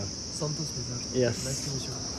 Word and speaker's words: Santosh Mijar: Santosh Mijar. Santosh Mijar.